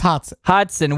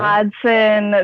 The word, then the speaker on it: Hodgson: And you guys went to Hodgson, Just Hodson. which is a trade school. Hodson, the G is silent.